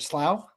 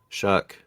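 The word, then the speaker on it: Shough: Is it slow? No. Shuck.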